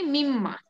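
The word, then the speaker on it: مِمَّا: কিন্তু আছে দেখেন মিম্মা আর এখানে মিম্মা কোন আলিফ মাদ দেওয়া যাবে না মানে কোন টান দেওয়া যাবে না টান দিলে অর্থ চেঞ্জ হয়ে যাবে ঠিক আছে তো এই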